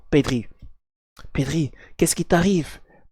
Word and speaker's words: Pedri: Pedro Pedri, je sais pas pourquoi je l'ai prononcé comme ça, mais bon, Pedri.